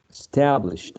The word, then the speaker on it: established: in the second one established all right stress primary stress on the second syllable and we have this